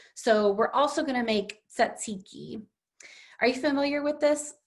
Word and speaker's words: tzatziki: Tzatziki is a tricky looking word, but it's really pronounced just like it's spelled. Those T's and Z's might look a little strange, but tzatziki is from